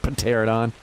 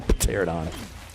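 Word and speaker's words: Pteranodon: Some of them I say wrong on purpose, like Pterodon. Gotta put the P in there, dude. The Pterodons. How do you... A silent P in the beginning of a word's not really... That's not cool.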